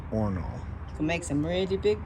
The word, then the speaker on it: horno: Spanish oven right here the horno that has collapse not says or no Spanish for oven pronounced ornal to make some really